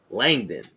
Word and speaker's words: Langdon: Langdon, I think how you say it. Yeah. Langdon.